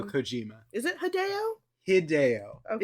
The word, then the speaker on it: Hideo: Hideo. Okay. It's a Japanese name. You're supposed to pronounce it phonetically.